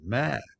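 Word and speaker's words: หมา: Mother has a rising tone, ma, and dog has a falling tone, ma.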